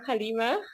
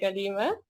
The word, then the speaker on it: Galeema: was just telling you how beautiful it is when it's pronounced properly because it's spelled Galeema. So often people could say Galeema, which is fine, Alhamdulillah. But it's so lovely to hear the correct pronunciation.